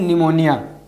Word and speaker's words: pneumonia: शुरू हो जाते हैं तो इसको हम लोग बोलते हैं निमोनिया इसमें साइलेंट है अब इसके क्लिनिकल मेनिफेस्टेशन